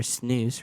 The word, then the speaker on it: snus: Proudly made by Swedish Match, Zyn is a modern tobacco-free version of snus, or snus, rhymes with mouth, used in Sweden and Norway.